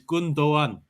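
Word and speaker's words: Gündoğan: I'm Turkish. I'm telling you, it's Gundogan. Gunderland.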